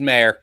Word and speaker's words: Maher: So hi, but he's Mayer. It's weird. Mike, your name should be pronounced Maher.